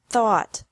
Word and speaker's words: thought: Think, thought, thought. Remember that the G is silent in these verbs.